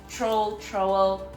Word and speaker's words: trowel: And then I got this trowel. I don't know how they say it. Trowel. Trying to say it like the way you say towel, but with an R.